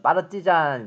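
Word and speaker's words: партизан: 단어가 러시아에서 많이 쓰였어요 노어 발음으로는 빠르지 잔 닫고 이것이 우리나라의 서로 클라이 징 되어 빨치산이 됐죠 시계가 먼로 씨아 사람을 뜻하는 루 스키가 우리나라 식으로 러스크 해가 된 것처럼 빠르지 잔이 빨치산 으로 이제 바로 믿고 잉 거에요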